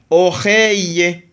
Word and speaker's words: oreille: Oreille.